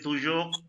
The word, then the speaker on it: toujours: C'est toujours absolument délicieux.